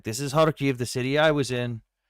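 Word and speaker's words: Kharkiv: Like this is Hariv, the city I was in. It's a Okay, enough enough of the Raz. I think just Hark is fine. Harve. Yeah, that's how it's pronounced.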